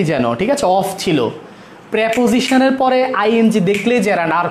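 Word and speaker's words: preposition: প্রেপোজিশন, এটা উচ্চারণ প্রিপোজিশন না, প্রেপোজিশন। প্রেপোজিশনের পরে আইএনজি থাকলে ওটা জেরান্ড, প্রেপোজিশনের পরে আইএনজি থাকলে এটা জেরান্ড।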